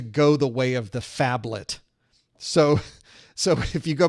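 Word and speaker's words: phablet: the way of the fablet so so if you go back to earlier versions of the A+ we had to learn about the faets I'm not saying it wrong it's fablet pH fablet um so there are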